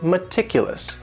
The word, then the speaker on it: meticulous: And this word has 4 syllables, and the stress is on that second syllable. Meticulous, meticulous. That first syllable also has that schwa, that sound, that reduced vowel sound. meticulous.